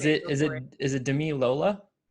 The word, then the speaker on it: Damilola: is it Damilola? Damilola. Damilola. It Yes. was a 50-50 chance, and I was back and forth. Yes, yes. I just go by Dami, but Damilola is cool.